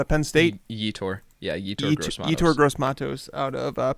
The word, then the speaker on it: Yetur Gross-Matos: Let's go with I don't know how to pronounce his first name. Gross Matos out of Penn State. Yetur. Yeah, Yetur Gross-Matos.